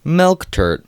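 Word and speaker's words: melktert: fun fact number two the afrikaans pronunciation of milk tart is milk tert spelled with two e's press the mixture into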